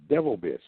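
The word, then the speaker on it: Bivelbiss: And he pronounces that devil bless Devil Biss.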